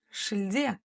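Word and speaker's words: шілде: Шиль Шиль шильде шильде ударение конечно же на е Потому что палочка с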